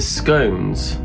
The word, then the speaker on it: scone: It's not scone, it's scone. And I'll tell you for why. If it was scone, then throne would be pronounced as thron. And that wouldn't make sense, would it?